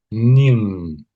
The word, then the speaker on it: Ning: So this name here I would say is pronounced as ning.